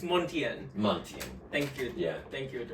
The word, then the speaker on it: Montien: oat uh I always I want to say Montana which is kind of suiting to this theme I guess but it's montian montian thank you thank you yeah it sort